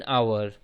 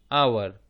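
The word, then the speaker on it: hour: जैसे इन आवर एन आवर इसको हम उच्चारण करते हैं आवर आ उच्चारण होता है पहले मतलब इसका उच्चारण स्वर से प्रारंभ हो रहा है इसलिए लग गया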